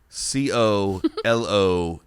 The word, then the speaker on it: colonel: don't know colonel crandall when it comes to the word colonel think of the first l as an r oh colonel corro no